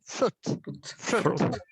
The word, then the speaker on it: fruit: Be careful with the pronunciation, but you did well. Fruit. There's no I.